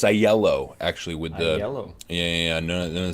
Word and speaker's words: Aiello: the year with a really good friend AO did I pronounce the surname correctly it's the uh it's aello actually with the yeah yeah silent L's you